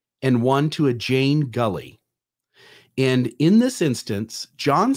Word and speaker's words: Gully: And it's Gully, by the way.